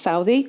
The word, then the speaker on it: Southey: I've also chosen to write about Southey, who I have always pronounced Southey. Byron said it should be pronounced Southey, like mouthy, but I've only heard it as Southey.